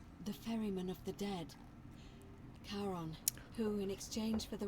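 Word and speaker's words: Charon: It's just as you described it, only your pronunciation is a little off. The name you heard wasn't Karen. It was C H A R O N. As in Karon, the man of the dead. Karon, who in exchange for the right coin, helps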